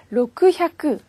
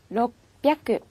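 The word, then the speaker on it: ろっぴゃく: 다음에 600 부분을 보세요 600 은 요 로크 샤크 발음하기 너무 어렵잖아요 그래서 초 금이 들어갔습니다 그래서 롭 야크 롭 야크 이렇게 해 주셔야 되구요 그 다음에 800을 보세요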